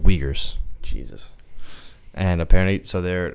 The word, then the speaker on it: Uyghurs: he's like clip it yeah search it up pronounce it completely wrong it's not it's called the uyghurs Jesus and apparently so they're like natives in